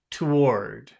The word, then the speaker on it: toward: we have the word toward toward toward toward toward how would you describe the vowel sounds in that word yes it two is small and the word word word is bigger that's right that's right